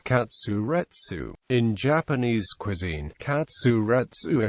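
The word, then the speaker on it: カツレツ: The Japanese pronunciation of cutlet is katsuretsu.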